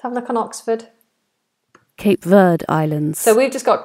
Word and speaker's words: Cape Verde: Cape Verde Islands.